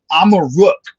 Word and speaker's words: Amaruk: Amaruk is how you pronounce Morocco in the Berber language, which was one of the languages from this land that the Mauritanians spoke.